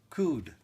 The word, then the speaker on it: Cude: nice little note uh his last name is pronounced like crude oil but without the r okay okay so C like cud c u d e